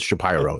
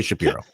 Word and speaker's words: Shapiro: pronounce his own name he pronounce his Shapiro it's really Shapiro I mean come on